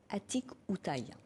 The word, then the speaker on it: Atikoutaï: Alors que signifie Atikoutaï, si je le prononce bien?